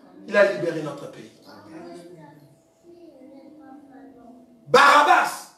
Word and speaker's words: Barabbas: Barabbas, pas Barnabas. Barabbas, merci. C'est Barabbas.